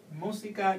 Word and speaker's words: música: Once again, if you say música, you sound Spanish. If you take the tilde away, then you will have to say música.